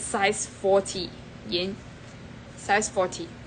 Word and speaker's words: Yen: Okay, I just realized that Yen's name, right, is pronounced as Yin.